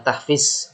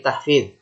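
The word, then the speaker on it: تحفيظ: Sama seperti kalian tulisannya tahfiz, itu bacanya bukan tahfiz tapi tahfidz, karena itu bukan za tapi dho, huruf dho. Tahfidz ya. Jadi salah kalau orang bilang tahfiz, yang betul adalah tahfidz ya.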